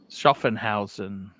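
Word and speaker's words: Schaffhausen: is something else you have to say there schoffenhausen correct yes you clearly you got the greatest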